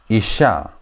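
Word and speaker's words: אִשָּׁה: one makes e sound alf is silent shin is sh sound then k is a sound is simply h. So how do you pronounce this? You pronounce it as isha isha isha.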